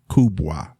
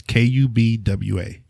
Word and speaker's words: Kubwa: it's a monte cristo afrique select kubois and it's kubwa i heard you say in that